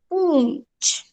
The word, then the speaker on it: पूंछ: पूंछ, पूंछ। देखो, प, प का उच्चारण करते समय मैं उसमें न का उच्चारण भी कर रही हूँ, तो हो गया वो पूंछ।